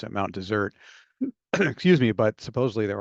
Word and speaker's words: Mount Desert: from the fact that in the French that is what he named it and that's how it's pronounced and it means Barron